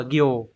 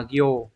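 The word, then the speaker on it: 行: của chúng ta ấy, nó sẽ có hai cách đọc, âm oyomi là cô và gyo. Ngoài cách đọc là cô trong những trường hợp ở phía trên này ra thì nó còn đọc là gyo trong một số trường hợp khác. Ví dụ như trường hợp nào đây, nó sẽ mang nghĩa là hàng hoặc là dòng thì đọc là gyo nhá.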